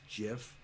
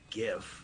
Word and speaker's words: GIF: the way it's pronounced jiff oh the guy who created it said it's pronounced jif i don't know why people want to pronounce it gif i mean because you